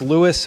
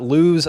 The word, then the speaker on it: Lewes: It's pronounced Lewis, by the way, not LSE like you might think.